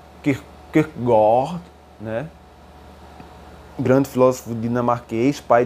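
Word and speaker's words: Kierkegaard: indubitável que ele leu quis pegar né cuja pronúncia certo é que corre né grande filósofo dinamarquês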